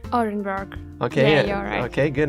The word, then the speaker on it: Orenburg: Orenburg it's situated near Kazakhstan okay again the pronunciation is Orenburg Orenburg okay okay good it's that yeah that extent